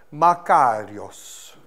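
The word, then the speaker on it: μακάριος: è tradotto poi beato, si pronuncia così, makarios, questo è il greco, che significa rendere felice.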